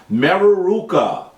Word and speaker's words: Mereruka: This man's name was Mereruka. Say his name with me, please. Mereruka.